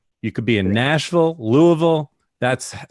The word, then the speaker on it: Nashville: And by the way, those of you that are not from the South, any city that ends in Ville, that's pronounced Vul. You could be in Nashville, Louisville.